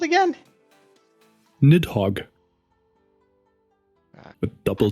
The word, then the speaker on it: Nidhogg: Nidhogg. With double G. I'm gonna have you to spell it out for me. Nidhogg 2. I only have the first one. Oh, Did you say Nodhogg?